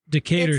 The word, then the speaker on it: Decatur: How do you pronounce that street name? I always say it wrong. Decatur Street. Decatur Street.